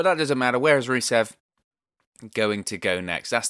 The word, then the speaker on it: Rusev: rusev where does rusev go next i would do the whole roll the rs rusev sort of thing like lana did when she says his name unfortunately i can't roll